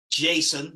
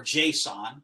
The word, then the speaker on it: JSON: JSON, like the name, or JSON, depending on how it's pronounced.